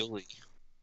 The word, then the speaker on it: Juli: Yuli. Yuli? Yeah. That's Juli, whatever. You can trust the man... Like, pronounced like Spanish.